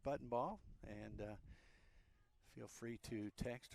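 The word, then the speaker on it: Buntenbach: Kennedy Buttonball, spelled B-U-N-T-E-N-B-A-C-H, pronounced Buttonball.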